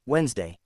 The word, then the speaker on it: Wednesday: So instead of saying all the letters in Wednesday, you learn it is pronounced Wednesday.